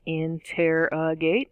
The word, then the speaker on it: interrogate: an interrogation going down interrogate is four syllables in tear a gate again stress on the second syllable schwa that uh sound